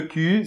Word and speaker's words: cul: Alors que le cul, c'est C-U-L. Et on ne prononce pas le L final.